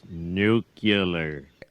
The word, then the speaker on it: nuclear: It's pronounced nuclear.